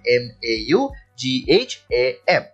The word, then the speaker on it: Maugham: এটার উচ্চারণটা কিন্তু মম হবে, MAUGHAM, উইলিয়াম সমারসেট মম।